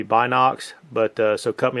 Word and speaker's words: Binox: And uh just real quick, sometimes in the video I call them the Bino X. Um I think the actual true pronunciation is going to be Box, but uh so cut